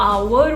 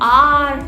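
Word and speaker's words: hour: हम इंडियन जो है र पे स्ट्रेस डालते हैं तो आप बिल्कुल यूज़ करिए, आप आवर बोलिए, कोई दिक्कत नहीं. आवर आवर बट आवर, हार और आर ये सब गलत है, याद रखिएगा.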